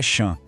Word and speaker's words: champs: Já o P e o S no final, eles estão ali de enfeite, a gente não fala. E o an é outro som nasal, igual em Provence. Então, a pronúncia é champ.